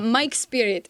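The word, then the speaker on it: Majk Spirit: it is how you say his name uh Mike spirit is how you pronounce it um it's kind of a variation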